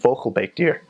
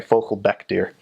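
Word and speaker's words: vogelbekdier: platypus in Dutch isn't vocal bake deer I mispronounce oh sorry focal BEC deer Baek and Baek are different focal BEC deer translates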